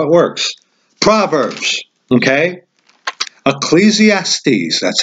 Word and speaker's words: Ecclesiastes: here's how here's how it works proverbs okay ecclesiastes that's how you pronounce that solomon's song or the song of